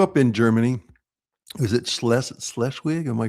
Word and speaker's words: Schleswig: Is it Schleswig? Am I pronouncing that close to the Danish border.